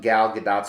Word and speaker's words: Gal Gadot: now while i loved gal gadot's performance yes the t is pronounced i actually love the